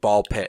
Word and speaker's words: BALL x PIT: do something X something, you just say them, the X is silent, so it'd be like Ball Pit, and like that's obviously what it is a reference to.